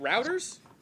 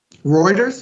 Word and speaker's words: Reuters: how to pronounce this is it routers or reuters what this the news the news organization am i totally slaughtering it let me pull this up reuters reuters that's what it is okay uh this is